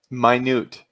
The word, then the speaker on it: minute: know what okay sorry my newt my nude okay yeah okay spell minute yeah it's so weird but this word it means extremely small it's spelt the same